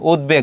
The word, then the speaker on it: উদ্বেগ: উদ উপসর্গের সঙ্গে ব থাকলে ব উচ্চারিত হয়। যেমন উদ্বেগ খুবই গুরুত্বপূর্ণ। এটা কিন্তু তোমাদের আসতে পারে উচ্চারণের ক্ষেত্রে। উদ্বেগ আছে। উদ্বেলিত আছে। কি হবে? উদ্বেলিত। উদ্বেলিত হবে। এটা উদ্বাস্তু উদ্বোধন উদ্বৃত্ত। উদ্বেগ এটা দেখো তোমার মাঝে আছে। এজন্য উচ্চারণটা হচ্ছে। এটার উচ্চারণটা কি হবে? ওদ। তারপরে কি হবে? বেগ হবে।